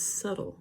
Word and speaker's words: subtle: in this word doubt the other word is subtle so you when you say um i can